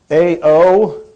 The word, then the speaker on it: Aoakua: I never explain what it is, but it's Aoakua. He's not correcting me, so I guess I said it all right. A-O-A-K-U-A.